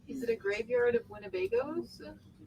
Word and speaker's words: Winnebago: Richard Chip's going to grab Winnebago, or Winnebago if you want to say it correctly.